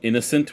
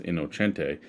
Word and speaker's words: Innocente: Innocente is basically spelled innocent with an E at the end of it. Okay. So he would do things like and people would pronounce it innocent, even though it was Innocente.